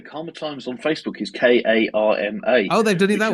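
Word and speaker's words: Caldmore: no no no Karma times on Facebook is k a r m a oh they've done it that way they oh yes because of the way it's mispronounced by people who don't know what cold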